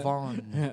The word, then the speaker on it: Yvonne: Ayusin mo natin pag-pronounce, Sir. Avon ata, no? Avon. Yan. Yvonne.